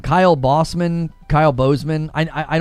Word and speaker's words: Bossman: I actually think it's probably historically pronounced Boseman, but because he's like me, like a kind of a smaller nerdy guy, you know what I mean? I think that's I think he he's convinced everybody that it's pronounced bossman cuz he he he wants to elevate his status.